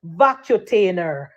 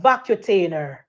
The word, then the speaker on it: Vacutainer: cuz if a vacuum a v call it vacutainer what the word pronounced petal empress we a nurse vacainer what none of them know all fabulous call it vacutainer and it say it is a it is